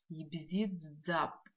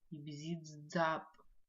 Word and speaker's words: Ибзидзап: Ибзидзап. Звук дз пишется как д, з, две буквы вместе. Произносится как дз. Слово подсказка у нас слово вода. Дз. Ибзидзап. Как в слове дз произносится, да?